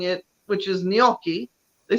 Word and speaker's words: gnocchi: Midwestern uh manner like instead of saying gnocchi I'll say nochi oh I have had